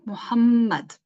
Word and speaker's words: Muhammad: is not Muhammad or Muhammad no Muhammad okay Muhammad say his name correctly and then after the